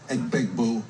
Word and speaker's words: Egbuka: Sensation wide receiver out of Ohio State, Emeka Egbuka, going for big boo. Big boo. He knew it was a hard G.